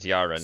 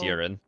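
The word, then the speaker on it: Yeren: I realized as I was editing and going through this video that uh I'm actually pronouncing the Yarn word wrong throughout this entire video. Yarn. It's urin.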